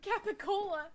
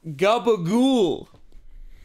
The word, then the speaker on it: capicola: a real thing it's a mispronunciation of capicola gabagool yeah capricorn gabba ghoul